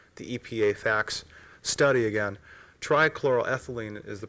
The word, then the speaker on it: trichloroethylene: specifically from the the EPA facts study again trichloroethylene is the pronunciation it is listed as a colorless liquid